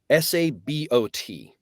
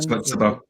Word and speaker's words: sabot: Sabo. Discarded. Yeah. Anyway. Said Sabo or Sabo? Sabo. Sabo. It's the correct pronunciation of the word is Sabo, but the U.S. military pronounces it as Sabo.